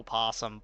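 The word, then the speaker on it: opossum: It feels weird to pronounce it possum when they put the O there. It's like it's um because you spelled it O possum, but it is possum and the O is just silent.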